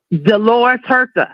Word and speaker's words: Dolores Huerta: Dolores Huerta.